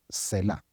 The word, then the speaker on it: Selah: De hecho, lo estoy pronunciando bien, Selah.